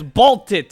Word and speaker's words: Baltit: Yeah, it's Baltit. It's Czech.